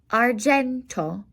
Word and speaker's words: argento: Silver is argento. Argento. A G will sound like a J whenever you have a GI or a GE.